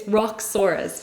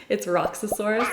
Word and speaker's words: Roxsaurus: It's It's Roxsaurus, but in my head I always think it's Roxosaurus.